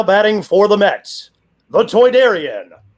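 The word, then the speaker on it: Toydarian: How do you pronounce it again? Aidarian. Toyarian. Toidarian. Yes.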